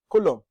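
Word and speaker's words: column: next word where n letter N is omitted colum yeah he not being realiz the letter N there is not being pronounced not being realized there so it's like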